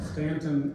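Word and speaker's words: Staunton: Greg is a native of the Shenandoah Valley, and I just learned this afternoon that means he was born in Stanton, Virginia, and he praised my pronunciation of that.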